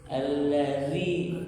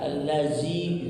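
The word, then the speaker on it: الذي: Kemudian cara pengucapannya bukan za ya. Ini banyak sekali yang menyamparkan za allazi gitu kan.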